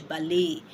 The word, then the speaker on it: ballet: For an example, ballet, like the ballet dance you pronounce in English, ballet, but in French is ballet. Okay, so that's, you say a. So that is the way that is actually pronounced in French.